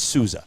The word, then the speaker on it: Souza: Salsa or I kept saying Salsa. Souza. Anyway, it's Souza.